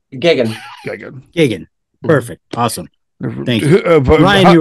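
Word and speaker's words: Geoghegan: speaking of geniuses yeah absolutely how do you pronounce his last name Gigan gig Gigan perfect awesome thank Ryan you were right I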